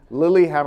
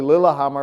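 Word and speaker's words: Lillehammer: into witness protection in Lily Hammer it's actually Lilah Hammer but he remembers the the Olympics and he mispronounces it as Lily hammer it is a fantastic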